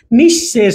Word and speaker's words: নিঃশেষ: দেখিয়েছি আরেকবার দেখিয়ে দিই নিঃশেষ বিসর্গ থাকার কারণে দুইবার হবে এখানে নিঃশেষ নিঃশেষ আপনি ইত পূর্বে